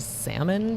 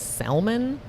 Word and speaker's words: salmon: do things like he he pronounces the L and salmon but so he says salmon and even when I tell him but it's a silent L he'll just be like